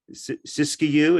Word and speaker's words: Siskiyou: where an entrepreneurial new internet provider, whether that's Siskiyou, is that how you say it, Russ?